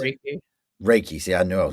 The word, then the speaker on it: Reiki: I mean cuz cuz as I'm looking here I mean say Ricky is it is that how you pronounce it? Reiki.